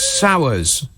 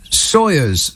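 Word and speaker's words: Sawers: Sowers. No. Sawyers, probably. Is that how you say it? Sowers? Sawyers? Because it looks like Sowers, and some people might say that he is a bit sour.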